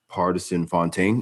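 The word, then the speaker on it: Pardison Fontaine: ] stallion is apparently dating this guy now partisan fontaine is how you say his name artisan and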